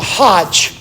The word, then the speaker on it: Hajj: The last pillar is the Hajj.